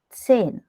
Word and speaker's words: zehn: Sechs, Sechs, sieben, sieben, acht, acht, neun, neun, zehn. zehn, Zehn. zehn. Yeah. Okay. Okay. So The that is next, pronounced as yes, no? yeah. Z is pronounced as TS, combiningly TS.